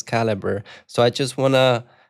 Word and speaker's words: Calibre: She says that caliber is pronounced calibra and I'm like, "No, but I had a call with the guy that created the tool and he says caliber.